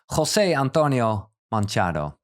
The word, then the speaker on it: José Antonio Manchado: Yeah, because Tijn, your friend, and for me, well, as a light friend as well, he introduced me to you, José Antonio Manchado. Do I pronounce it right?